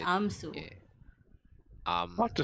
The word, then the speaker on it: Amsu: You remember that Inaya The said his lady name just is said, Amsu. yeah. What to spell? AMSU. Yeah. Su. Oh, I spelled like Hansel without the H.